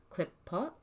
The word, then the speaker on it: Qliphoth: Qlippot. Clipot. That's pretty much how it's said from the Hebrew if you're in Israel.